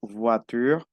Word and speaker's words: voiture: La O y la I se pronuncia UA, una U y una A. UA, UA. Entonces digo voiture, toi, moi, la loi.